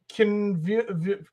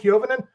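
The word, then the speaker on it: Koivunen: Kiovinen is how you say it, Kiovinen, and Kindle and Brazu.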